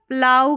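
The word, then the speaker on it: plough: फिर यहाँ पर है OUGH का उच्चारण प्लाउ करके हो रहा है, प्लाउ, आउ साउंड आएगा, आउ OUGH का। जैसे यहाँ पर देखिए PL को प्ल पढ़ेंगे, OUGH को आउ करके इसका उच्चारण, प्लाउ में जैसे हल, इसको बोलेंगे प्लाउ।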